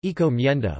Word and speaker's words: encomienda: Encomienda, Spanish pronunciation, encomienda, was a Spanish labor system.